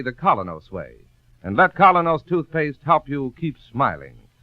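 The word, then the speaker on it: Kolynos: teeth isn't that correct we honestly believe that colo's toothpaste will help clean and polish teeth more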